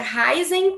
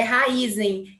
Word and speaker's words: Raízen: é que eles perguntaram se pronuncia raizen ou Raízen eu quero deixar isso claro porque todo mundo faz essa mesma pergunta a gente é Raízen que é uma mistura de raiz com energia então só para esclarecer